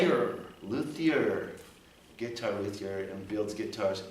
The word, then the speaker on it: luthier: Luthier.